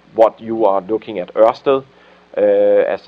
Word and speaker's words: Ørsted: Everything else they have, not everything else, but a very big part of what you are looking at, Ørsted, as it's pronounced, so don't worry, is really on their renewable energy side.